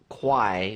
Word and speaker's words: Quay: departing yeah and been pronounced it as qui because it's spelled qu a why who came up with that where in what world does that make sense that doesn't sound like key does it what is the key